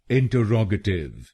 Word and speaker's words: interrogative: तो बनेगा इंटरोगेटिव, इंटरोगेटिव। इन ट रॉग अ टिव, इन ट रॉग अ टिव। इंटरोगेटिव, इंटरोगेटिव। और ये ध्यान रखिए कि हमको तीसरे शब्दांश पर यानी RROG पर जोर डालना है।